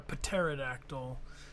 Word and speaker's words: pterodactyl: go to the bathroom because the p is silent wow I was even gonna make the joke why can't you hear a pterodactyl I don't know I